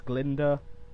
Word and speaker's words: Glinda: weapon glinder good witch that's actually how you pronounce it it's Glinda like Linda with a G Glinda goodwitch or Miss